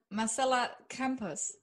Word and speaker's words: Marcela Campos: Ladies and gentlemen, Marcela Campos. Am I pronouncing that right?